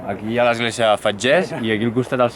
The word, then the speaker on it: Fetges: Que hem descobert que es diu Fetges, o sigui, s'escriu Fetges en francès, però en català es pronuncia Fetges.